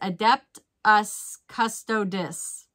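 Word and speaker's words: Adeptus Custodes: spent 1.84 each and pronunciation is adept us custodis that's how she said to say it thank you um it's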